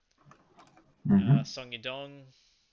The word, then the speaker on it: Song Yadong: Song Yadong.